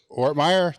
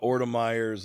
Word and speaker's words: Ortmayer: in today's guest is ortmeyer did I say that right you said it right man okay because sometimes